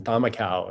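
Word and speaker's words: camakau: However, none of us had ever paddled a traditional Fijian thamakau, is how that's pronounced, which is that they made these boats for the race in the traditional design.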